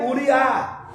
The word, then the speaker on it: Uriá: Agora ele é filho de Uri, que se se pronuncia Uriá. Fala Uriá.